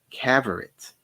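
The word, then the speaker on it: Cavorite: a sphere coated with caverits spelled like favorite but with a c it's a substance which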